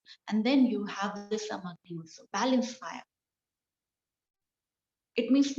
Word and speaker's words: Samagni: So pronunciation Sam Agni, Samagni.